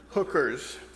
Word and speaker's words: HCRS: and Recreation service hcrs you know how that acronym is pronounced hookers and and the and